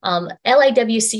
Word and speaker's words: LIWC: LIWC is pronounced LIWC, and this tool is